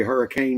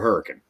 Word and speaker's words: Hurricane: from Hurricane Utah and I know it's spelled hurricane but if you go there and you say Hurricane Utah they're going to know you're a tourist because they call it a hurricane um so hurricane you